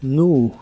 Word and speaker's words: knew: en el pasado es nu aquí solo se pronuncia la n y la doble u o un sonido de la u nu nu y la usas para